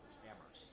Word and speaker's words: Amherst: Amherst. That's how it's say That's it. the locals. Yeah, it's Amherst. The H is silent.